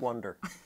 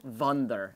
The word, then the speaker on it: Wonder: And there's filled a lot with of wonder. We say it like Wunder, actually. Oh, I like that. Yeah, that's nice. It's fun. Like Volkswagen. Yeah, it's a German thing.